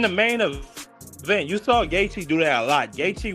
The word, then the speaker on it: Gaethje: Gaethje. Yeah, Gaethje.